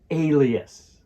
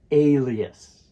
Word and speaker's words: alias: word alias in Alias the stress falls on the first syllable so it's alias here's a guide for you alias alias an alias is